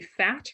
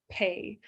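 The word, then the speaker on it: phaṭ: so whenever you see that Phat looks like it should be fat right phonetically but it's pay the H is for aspiration so Etc blow on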